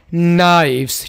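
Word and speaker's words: knives: नाइव्स, यहाँ पर के साइलेंट होगा, नाइव्स, चाकू छुरियाँ, नाइव्स, चाकू छुरियाँ।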